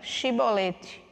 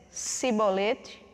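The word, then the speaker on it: shibboleth: respondesse que não diziam então diga chibolete se ele dissesse sibolete sem conseguir pronunciar corretamente a palavra prendiam em matavam no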